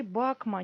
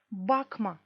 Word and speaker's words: bakma: Бакма, не смотри. Тут ударение еще есть. Бакма. Ударение падает на корень слова.